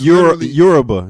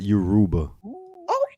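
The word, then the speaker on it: Yoruba: you go I'm not that's yurba not Yuba who said Yuba excuse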